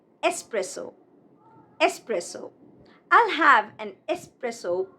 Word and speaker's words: espresso: It is not espresso, but espresso.